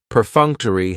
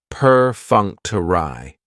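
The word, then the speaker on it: perfunctory: Prefuncter has four syllables and the stress is on that second syllable that funk. Perunctury. That third syllable has the schwa and it's going to end with that long e sound.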